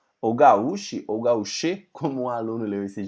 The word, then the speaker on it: gauche: A pronúncia dessa palavra aí é gauche, não é gauche, como meu aluno falou não, né?